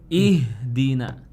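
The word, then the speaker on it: اهدنا: Nah, jadi bacanya jangan ihdina tapi ihdina. Ihdina.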